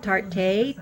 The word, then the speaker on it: Tarte: So this one is from, I guess you pronounce it Tarte, T-A-R-T-E, and I will put a couple links below on where you can get this concealer.